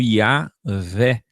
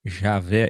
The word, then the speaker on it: YHWH: em vídeos antigos que a palavra aleluia revela a pronúncia ocultada. Aleluia, louvai a Iá, que hoje temos como Iavé, e depois da criação do J, Javé, Jeová.